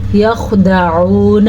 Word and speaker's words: یخدعون: مدہ ہے۔ وما یخدعون، پھر سے ہم نے خا کو پر پڑھا ہے، خا ساکن ہے لیکن پھر بھی خا کو پر پڑھنا ہے، کیسے؟ یخدعون، عین کے تلفظ پہ خاص دھیان دینا آپ نے۔ الا انفسہم، مد